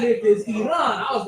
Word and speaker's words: Iran: that you support our country, but you disrespectfully pronounce it wrong. It is not Iran, it is Iran.